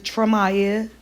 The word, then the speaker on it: Tramaya: Her name is Tramaya, 3 syllables.